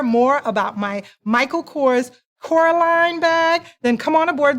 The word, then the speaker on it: Coraline: It's pronounced Coraline, not Caroline.